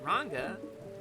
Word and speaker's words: Ranga: It's pronounced Ranga. Like the Aussie slang for a ginger.